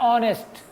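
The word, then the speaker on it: honest: हाँ, वैसे ही है ऑनेस्ट, हम लिखते हैं हॉनेस्ट, लिखा जाता है हॉनेस्ट, लेकिन एच इज साइलेंट। एच जो है ये साइलेंट है, इसका उच्चारण होता है ऑनेस्ट, इसीलिए एन ऑनेस्ट आता है।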